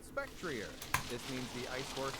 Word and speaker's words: Spectrier: According to Cerebi, though, they are officially pronounced Glastria, Spectria, and Calyrex. But according to the latest Pokemon Presents in August 2023, the ghost horse is called Spectrier.